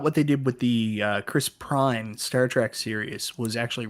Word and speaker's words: Chris Pine: I thought what they did with the Chris Pine Star Trek series was actually really smart. Why do you keep saying Prine? It's That's his Pine. fucking name, No, man. it's That's Chris why. Prine. Chris Pine.